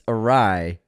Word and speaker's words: Ari: own comment about the pronunciation of Ari funny thing is Anthony still says it incorrectly though he claims James is wrong guys it's arai oh unsubscribed so am